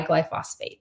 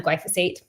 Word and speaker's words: glyphosate: of the intestines um by glyphosphate so um glyphosate sorry said it wrong there um but regard L